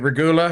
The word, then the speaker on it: Regula: Regula, is that how we pronounce his name? Is it Regula?